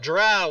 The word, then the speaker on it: drow: and i yell out drow which rhymes with cow everybody and grund karen